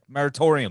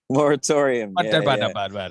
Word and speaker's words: Moratorium: also recently released uh more how do you pronounce it meritorium oh my moratorium sorry i've yeah that's you know broadcast from